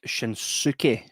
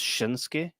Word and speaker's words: Shinsuke: Um Shinsuke is is spelled like Shinsuki, but it's Shinsuke, right?